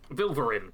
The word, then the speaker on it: Vilverin: Vilverin, that's how it's pronounced.